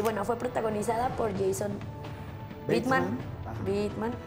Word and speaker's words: Bateman: Y bueno, fue protagonizada por Jason Bateman.